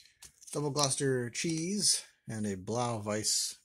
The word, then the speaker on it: Gloucester: the double double cluster double gloster that's how you pronounce that double gloucester cheese and a blouse